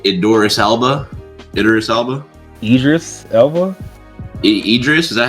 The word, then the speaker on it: Idris Elba: name was it it Doris Alba iterus Alba Idris Elba Idris is that how you say his name